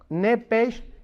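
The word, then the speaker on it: נפש: ahí arriba de Alma la palabra nepes como suena nepes con s h como suena que es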